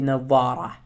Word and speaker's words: نظارة: نظارة basically means eyeglasses, but when it's attached with another nouns or pronouns, we have to pronounce it like نظارتي. When it's detached, we have to say نظارة.